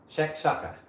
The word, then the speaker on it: shakshuka: Like I'm gonna know what shakshuka is.